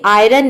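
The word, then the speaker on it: iron: जो है इसमें भी आयरन में आई के बाद आर आ रहा है लेकिन हम यहां पे आई को आय प्रोनाउंस कर रहे हैं ये होता है आयरन तो ये एक वर्ड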